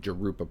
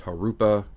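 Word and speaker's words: Jurupa: I've been saying Jarupa Park and they're like, "No, no, no, no. It's it's a Spanish J. It's Harupa."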